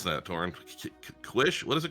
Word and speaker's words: quiche: I don't think I can even pronounce that, Torin. Quish?